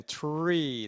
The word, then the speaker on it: tree: Às vezes tem que dar uma curtidinha no E, né? Tree, né?